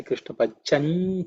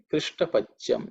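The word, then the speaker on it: कृष्टपच्यम्: Krishta Pacham. In terms of pronunciation, the kri is not kri or kru. Okay, krish, ish. Again, it's cerebral sha.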